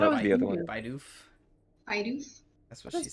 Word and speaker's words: Bidoof: You like lean on the B, not the doof.